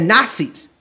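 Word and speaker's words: Nacis: Explicitly called the Nazis, N-A-C-I-S. Yes. I'm sure you can correct my pronunciation, but... Oh, that was correct.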